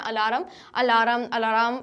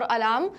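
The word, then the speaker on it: alarm: अलार्म नहीं होता है, बहुत सारे लोग बोलते हैं अलार्म, इट्स नॉट अलार्म और अलार्म, जो भी आप बोलते हैं इट्स अलार्म। तो ये जो हमारा आर है, आर हमारा लेटर साइलेंट रहता है।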